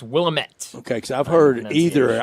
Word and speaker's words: Willamette: What I've heard is it's Willamette.